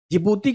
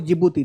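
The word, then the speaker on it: Djibouti: Ethiopia और डी फॉर जिबूती। जिबूती के नाम के आगे डी लगा हुआ है। डी जे आई बी ओ यू टी आई। यह जिबूती का स्पेलिंग है।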